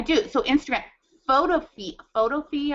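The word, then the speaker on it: Photofy: so Instagram photo fee photo fee I think is how you say p h o t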